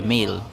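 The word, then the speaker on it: Malé: na namin papuntang mele male or mele sa Maldives yan in fairness ang aga so Ayan boarding time na pupuntang mele m pala pangalan parang mele yung pronunciation sa Maldives and ang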